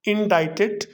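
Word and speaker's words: indict: लगाया फॉर्मली को, और इंडाइटेड जो कि ऑर्डिनरी वर्ब है उससे पहले लगाया है। इंडाइट का मतलब होता है फर्द जुर्म आयद करना, और वर्ड इंडाइट में सी साइलेंट लेटर है।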